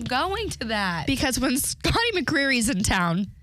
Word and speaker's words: McCreery: Anyone familiar with Scotty Creary out there? Scotty McCreery? Oops, I said his name wrong.